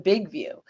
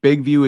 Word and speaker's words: BIGVU: And also, just really quick, BigView is spelled BIGVU. BIGVU, because I don't want people putting in VIEW.